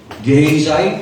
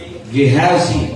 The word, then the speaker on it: Gehazi: Gehezai pag english. Gehazi kapagka Hebrew.